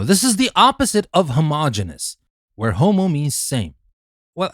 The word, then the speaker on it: homogeneous: But for heterero we pronounce the rest genius and for homo we pronounce the rest genus. So we say heterogeneous and homogeneous.